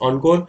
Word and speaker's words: encore: Encore, yes, it's like N E से start हो रहा है, but it is pronounced encore.